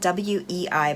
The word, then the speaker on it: Wei: So the story goes, this realtor named Wei, it's spelled W-E-I, but they kept saying Wei in the movie, so I expect that's how you pronounce it.